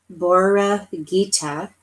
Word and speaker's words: Borreguita: Ayutla is a city in western Mexico, and it has pronunciations. So here it's called Mexico. Borreguita is Spanish for little lamb. Borreguita.